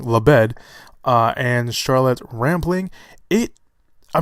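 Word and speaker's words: Labed: leb d lebed sorry pronounce Willie I was pronouncing your name completely wrong lebed and charlotte rampling it I mean look I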